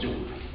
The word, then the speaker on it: Joule: And Joule was not, Preston Joule was born in England, and it was Joule. Okay? In some cases I will emphasize some pronunciation that is not usually said right from by the Italian student.